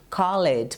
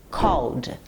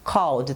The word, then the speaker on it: called: Então, nesse caso, para você pronunciar no passado, ela vai ficar assim, called, called. Tem que jogar a linguinha lá para cima, called, ok?